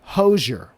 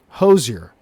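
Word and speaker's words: Hozier: before I end the Somebody pronounced his name as Hosier. you. Too many syllables. Hoser. Hosier. Hosier. Those are all acceptable. I said that three different ways right there.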